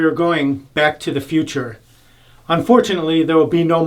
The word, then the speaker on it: Futur: And many people say Future or whatever, proper pronunciation. And my German friends who sprechen Sie Deutsch, they can, Doc, you could verify this. I think the correct pronunciation is Futur.